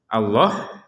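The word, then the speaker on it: الله: di sini ada kata Allah yang mana harakatnya ini tidak diberi tanda panjang karena memang orang Arab sudah familiar ataupun sudah umum dengan kata yang seperti ini pasti dibaca panjang berbeda dengan Quran standar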